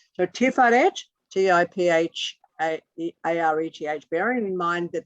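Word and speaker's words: Tiphareth: But about that, it's called Tiferet, T-I-P-H-A-R-E-T-H. PH is, as in fuck you.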